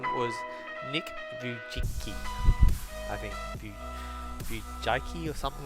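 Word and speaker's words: Vujicic: His name was Nick Vujicki, I think. Vujicki or something like that. I can't pronounce his last name. It's Vujiccic, okay?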